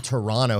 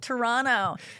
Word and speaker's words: Toronto: People from Toronto have the best posture.